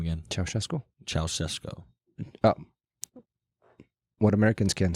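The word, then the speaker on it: Ceaușescu: So what is the actual pronunciation? Ceausescu. Ceausescu.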